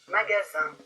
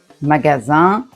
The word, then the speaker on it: magasin: Magasin. Magasin. On peut observer que in ça fait le son 1 quand derrière il n'y a rien.